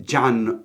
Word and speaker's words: John: So our protagonist who narrates it is Jan Ridd. It's spelled John, but you say it Jan.